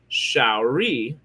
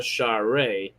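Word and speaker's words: Sha're: Daniel Jackson's wife's name in the film is pronounced Shari, but in the series it was changed to Share.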